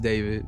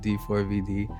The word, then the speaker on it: D4vd: Um, pronounced David, not D4VD.